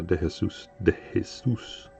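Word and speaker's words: De Jesús: are Puerto Rican so in Spanish it would be Prett pronounced uh Deus Deus but people ask me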